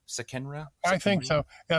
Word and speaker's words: Sekenra: i pronouncing it right sakenra i think so yeah it turns out the name is misspelled it's an it's an egyptian name that was written it should actually be sickener i left the neon somehow